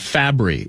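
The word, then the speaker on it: Fabbri: I said Fabry, I believe, last segment. Pronunciation matters, 9 to noon, and Fabry is the correct way to put it.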